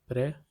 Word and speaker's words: préférer: The pronunciation is préférer.